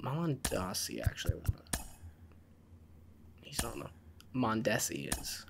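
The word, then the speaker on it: Mondesi: and Mom and Aussie actually he's on the mondessi is how you pronounce his name I'm gonna bring him up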